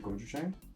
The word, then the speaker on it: gochujang: I'm not even going to attempt to pronounce this properly. Is it gochujang?